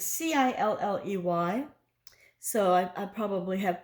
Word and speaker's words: Cilley: Is it Silly, Kylie, Killy? It's Cilley.